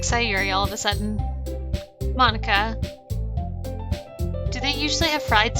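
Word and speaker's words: Monika: all people because it's right in your name monica oh it's mo nica that's not how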